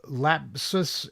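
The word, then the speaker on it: LAPSUS$: this is yeah but how do you pronounce the dollar sign as an S but there's already an S there yeah you pronounce it similar you know I guess according to the letter of the alphabet to which it is most similar yeah but then the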